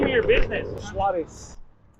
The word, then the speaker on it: Suarez: Suarez. Suarez.